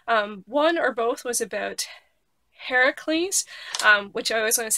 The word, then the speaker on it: Heracles: One or both was about Heracles, which I always want to say Hercules, but